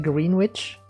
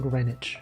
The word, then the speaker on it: Greenwich: Maybe one of the one of the pronunciations is uh in in New York there's a place called Greenwich Village and it is pronounced like green witch but it is pronounced Greenwich.